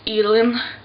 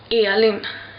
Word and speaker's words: Elin: Like my name in Sweden, like in English it would like sound Elin, but in Swedish it's called Elin.